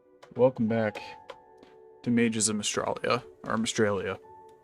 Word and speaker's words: Mystralia: back to Mages of Mystralia, or Mystralia. I need to get used to saying that correctly now, because we do know if they made the Australia joke, it's gonna be pronounced Mystralia.